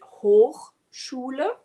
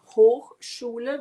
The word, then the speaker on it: Hochschule: Word number two is we pronounce it Hochschule. Hochschule, which means pretty much translated as high school, but it's not the high school.